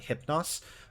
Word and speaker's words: Hypnos: go to that um almost brighter sound like NYX or hypnos um but whenever I see um uh uh an Upsilon like I tend to go to the Greek so that's why I say nooks and hupnos um P was an